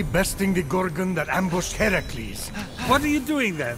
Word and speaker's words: Heracles: So, Phoenix, after boldly besting the Gorgon that ambushed Heracles... What are you doing there, that thing with your voice? Heracles? Yeah, that! That is how it's supposed to be pronounced.